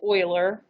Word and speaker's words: Euler: not pronounce this wrong it is literally pronounced euler i'm gonna write this in uh quotes euler's how you pronounce it the same diet guy